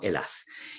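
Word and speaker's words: Ἑλλάς: Así se lee, es un Y con dos lambdas, un alfa y termina en una S, ¿no? La S que nosotros pronunciamos como Elas.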